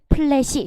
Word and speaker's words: 플래시: 플래시. 요것도 했었잖아요. 플래시. 쉬 아니고 시.